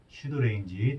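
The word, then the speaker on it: pseudorange: 유사거리 영어로 뭐라고 했어요 pseudo range 발음이이 피가 묵음이라고 했죠 그래서 이렇게 발음이 됩니다 슈드 레인지 또는 의사거리 유사거리 를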